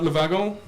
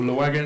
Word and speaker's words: Le Wagon: a little bit about Lavagirl as its pronounced in French or low wagon and as we pronounce it so la vaca was